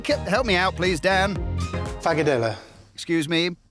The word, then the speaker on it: frikadeller: So, in Danish, they pronounce it frikadeller.